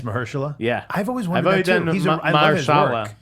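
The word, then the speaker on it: Mahershala: uh Mersa Ali I just learned how to pronounce that by the way it's Mersa yeah I've always wonder but it's Mersa M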